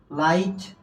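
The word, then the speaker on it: light: আই এর মত এবং এখানে যে জি টা আছে এই জি এর উচ্চারণ হবে না যেমন দেখো এখানে এই যে দেখো লাইট বানানে দেখো এখানে কি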